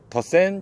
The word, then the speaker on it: 더쎈: 더 센 신형 어 더센 비전 차량입니다 뭐 덱센이라고 읽으시는 분들도는데 더센 비전이라고 생각하시면 돼요네이 차량은 23년 등록에 zf